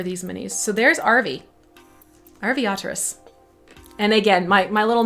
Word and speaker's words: Arveiaturace: little uh pronunciation devices i think rv otter race and just quickly shove it together rv oterous and you get the as close as you possibly can there are some slight